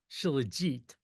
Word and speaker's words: Shilajit: Shilajit, which actually is pronounced Shilajit.